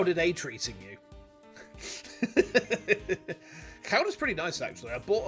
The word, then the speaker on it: Gouda: I was like, it's not pronounced Gouda. It's pronounced Chowder, right? Chowder. And she's like, no, it's not. And I was like, it is. Because I know Dutch people.